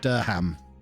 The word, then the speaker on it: Durham: Durham has the cathedral. Or as it should be pronounced, Durham.